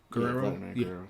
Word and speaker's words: Guerrero: I was looking at I'm a Vladimir Guerrero. That's how you say it? Guerrero.